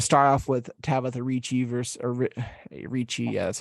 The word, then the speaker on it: Ricci: We're gonna start off with Tabitha Ricci Ricci, yeah, that's how you say it, versus Jessica Penne.